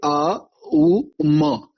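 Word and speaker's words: ॐ: ये आ उ म ऐसे है और हम शुरू करते हैं अ से।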